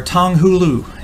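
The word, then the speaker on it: 糖葫芦: You had to stress the no, there are usually four tones in each Chinese character. Refer to the third tone of Chinese character. Hu, pronunciation. The second tone. Hulu. Yes, there we go.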